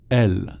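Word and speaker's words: elles: Elle. Do we pronounce the S at the end? Elle.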